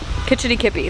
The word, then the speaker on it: Kitch-iti-kipi: Kitch-iti-kipi, that's it.